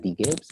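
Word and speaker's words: DGibsX: i b s x my name is d gibbs but the x is silent um probably doesn't confuse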